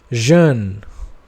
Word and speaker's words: jeune: For J it is pronounced G. For example, jeune. Jeune.